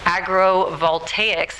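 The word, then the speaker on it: agrivoltaics: panels and also agriculture agrovoltaics is how you say the term with farms in arizona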